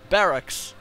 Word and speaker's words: barracks: need a Barack uh Barack wow I'm saying it wrong because of Barack Obama Barracks yes Barracks it's not a Barack